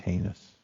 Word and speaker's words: heinous: It's pronounced heinous.